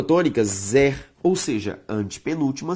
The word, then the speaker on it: tônica: Se eu for separar tônica, perceba que a sílaba tônica é to, beleza?